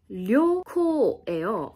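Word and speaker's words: りょこう: 생각하는데 이게 장염 때문이래요 여행이 발음은 료코예요 근데 얘가 장음이 되면 어떻게 되냐면 이렇게 발음이 돼요 근데 저는여 이 여행은 장음인 줄 알았어 그래서 이런 식으로 얘기를 하니까 사실 이렇게 된 거예요 못 알아듣는 거야 그래서 어 뭐지 하고 보니까 여행에서의 료코는 료를 짧게 끊어 줘야 되는 거예요 왜냐면 얘는 장음이 아니기 때문에 이런 식으로 그냥 똑같은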